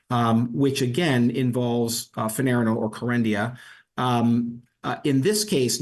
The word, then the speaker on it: Kerendia: Kerendia, yeah.